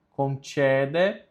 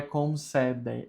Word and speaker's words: concede: Concede, não é concede, é concede, porque o C com E tem som de tché.